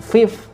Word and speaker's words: fifth: ditambahi TH gitu aja, dan pengucapannya 5 dan 9. Fifth and nin, bukan 5 dan 9, tapi fifth and nin. Jadi fifth, nin, itu perbedaan pengucapan.